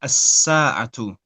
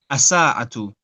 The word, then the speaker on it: الساعة: Okay, so at the moment, what you're doing, you're putting a shadda on the scene, and you're saying as-sa'atu. Okay. There's no shadda on the scene, so it's as-sa'atu.